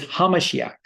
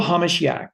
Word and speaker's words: HaMashiach: H, capital H, small a, capital M, small a, S Yeshua HaMashiach. In Hebrew, HaMashiach, because remember, in every other idiom language other than English, the focus is always on the second syllable.